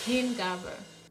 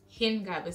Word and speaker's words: Hingabe: So, the German word for today is Hingabe. Yeah, Hingabe, spelled H-I-N-G-A-B-E. That's what Hingabe is spelled.